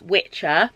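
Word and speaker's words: wicce: So the actual term Wicca originates from the word, it's pronounced Witcher, but it looks like Wiki. It's W-I-C-C-E.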